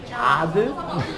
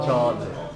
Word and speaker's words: Judd: 예, 한국 사람들이 제 이름을 들으면 like 자드, 조드, 자드, 너 저드, JUDD. 보통 한국 여자들이 like, 저도요. 저도요. 예, 그래서 저드.